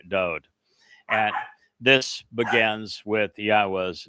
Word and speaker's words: Yahweh: Every letter in Yahweh's name is easily pronounced. It is Yahwa.